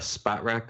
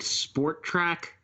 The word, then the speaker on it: Spotrac: Spot rack? No way. Isn't it like Sport Track? It is spelled out on my screen, SPOTRAC. Okay, I'm the one wrong then.